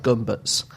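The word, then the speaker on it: Gömböc: of the thing uh it's spelled like a gach but I think it's pronounced more like guts anyway so um This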